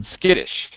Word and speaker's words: skittish: First, pronunciation. First word that's underlined here. Patience. Patience. Yes. Skittish. Yes. Mm-hmm. Skittish.